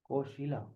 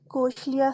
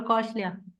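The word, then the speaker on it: Kaushalya: Yes, Dr. Koshila. Koshlia, sir. Yeah, Koshila. Hello, sir. My name is Dr. Kaushlia.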